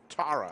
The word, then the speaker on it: Tara: It's pronounced Tara.